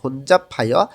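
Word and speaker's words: 혼잡해: জানজট বা ভিড় বোঝায় বিউ বাচ্চিমের পরে যখন হিউত আসে তখন বটা হিউতের স্থানে গিয়ে ফ উচ্চারণ হবে তো হনজাফায় ভিড় বা জানজট থাকে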